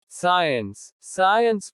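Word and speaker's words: science: C is silent in SC combinations. जब C SC शब्दों में आता है तो C का उच्चारण नहीं होता। सीन दृश्य। साइंस विज्ञान।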